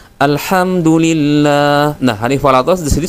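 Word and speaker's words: الحمد لله: Ha yang harusnya tipis dibaca dengan ha tebal, teman-teman. Jadi ada yang membacanya seperti ini. Alham, ya. Alhamdulillah, yang semestinya adalah alhamdulillah.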